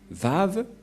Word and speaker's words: Vav: Et donc, la prononciation du lettre Vav en hébreu, selon la prononciation de Abraham et Moshe, on le prononce V, mais pas W ou comme avec certains, c'est directement V.